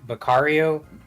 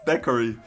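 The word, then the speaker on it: Beccori: Beccario. Bro, you just read these chapters. It's Beckery. Beckery. I know because it sounds like Bacardi.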